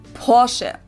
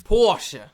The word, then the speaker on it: Porsche: I've heard Americans pronounce it Porsche or Porsche. In German, we say Porsche. So there is like this Porsche. Porsche. Short a sound in the end.